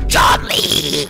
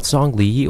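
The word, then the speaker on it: Zhongli: two numbers what two John Lee not zong Lee or zong Dongo put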